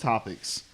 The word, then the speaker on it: Xopics: So it's still pronounced Topics. It's just spelled with an X. It's like, hey, my name is Sean, but it starts with a T. Tean. Sean. The joke makes sense. So, you want to give it another shot? We're going to move on to our latest segment. Topics. Topics. Yeah, the X is silent.